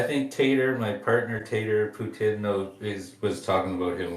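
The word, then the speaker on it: poutine: ptin in Canada yeah you say Putin in Canada not ptin so like like the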